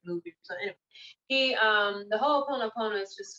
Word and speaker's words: Ho'oponopono: of energy healing called Ho'oponopono. And it's pretty much phonetically, it's like spelled the way it sounds. Okay, so Ho, not H-O-E, H-O. There's an apostrophe and then O, Ho, no, Ho, no.